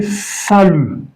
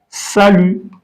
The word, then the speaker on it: salut: So, if you now say salut, salut. T is silent in French when it is the last letter. We don't pronounce it. So, you can say salut.